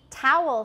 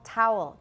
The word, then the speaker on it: towel: have merged for me towel should be two syllables but actually i pronounce it the same as owl owl towel they merged with okay